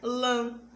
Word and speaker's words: lã: Um exemplo está na palavra lã. Fale em voz alta e perceba essa característica, ó. Lã. A gente acaba falando pelo nariz. Então, você fala, só que o som sai nasal.